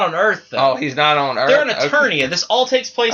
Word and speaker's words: Eternia: But, yeah, I mean, even if it was, is it inertia? Eternia. Excuse me.